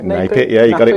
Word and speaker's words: NAPIT: We've got Steve Humphreys from NAPIT, did I pronounce that right? NAPIT, yeah, you got it right. Not NAPIT.